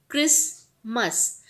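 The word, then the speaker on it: Christmas: यहाँ पे क्रिसमस, क्रिसमस CHRIS, बट टी भी लिखा जाता है स्पेलिंग के अंदर, टी यहाँ पे साइलेंट होता है, MAS मस, क्रिसमस।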